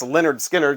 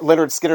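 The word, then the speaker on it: Lynyrd Skynyrd: know how to pronounce Leonard Skinner since their name their album title is literally pronounced Leonard Skinner it has the you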